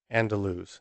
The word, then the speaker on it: Andaluz: about is called Hotel andaluz it's spelled a-n-d-a-l-u-z and lose so the gentleman Conrad